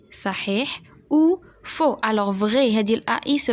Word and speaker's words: faux: Vrai, صحيح, ou faux. Alors vrai, هذه الAI se prononce E.